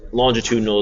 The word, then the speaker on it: longitudinal: this guy here this it's longitudinal is how they pronounce it like latitude longitude so it's a longitudinal